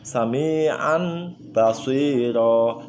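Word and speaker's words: سميعا بصيرا: Dan contoh yang terakhir di sini ada sami'an basiro, sami'an basiro ya. Cara membacanya sama. An tanwin tadi berubah menjadi mim.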